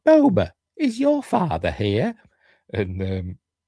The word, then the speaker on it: Boba: Although she says Boba. I've always said Boba. I think they said Boba in the original trilogy, don't they? And then over the years, it's ended up becoming Boba.